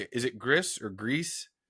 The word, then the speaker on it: Gris: Is it Gris or Grease? Gree, I think.